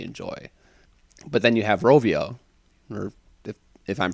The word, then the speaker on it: Rovio: but then you have Rovio or if if I'm pronouncing that correctly with angry it's pronounced ravio Link Between Worlds yeah